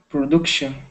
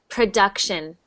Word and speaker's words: production: Production. So that U sound is actually instead of oo. So it's production.